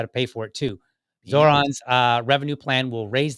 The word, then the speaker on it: Zohran: It's pronounced Zoron.